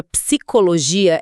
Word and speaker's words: psicologia: Aquele p mudo no começo, ninguém sabia o que fazer com ele. Pois é, mas a regra é clara. Psicologia é um encontro separável, mas a nossa intuição falha porque a gente não ouve a primeira letra.